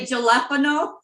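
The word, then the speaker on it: jalapeño: And jalapeno, I used to enunciate the J, but it's Yeah, just, I was going to say jalapeno.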